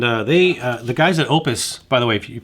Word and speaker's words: OUPES: they the guys at opus by the way if you probably heard this pronounced multiple ways like oops or pay the guys at the company told me it's actually pronounced opus they also sent me